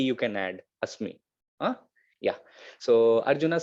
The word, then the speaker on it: asmi: You can pronounce is like asmi.